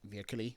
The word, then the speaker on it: virkelig: It has, depending on the context, it could mean like virkelig, really, or it can mean that like, yeah, like truly.